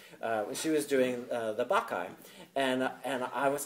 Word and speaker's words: Bacchae: I said, hi, I hear you're doing the Bacchae. I'd really love to audition for you. And she said, but I pronounced it the Bacchae. And she said, it's pronounced the Bacchae.